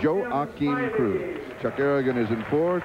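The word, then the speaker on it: Joaquim Cruz: to Cruz this morning his name has been pronounced several ways he pronounces it Joe Akin Cruz Chuck Aragon is in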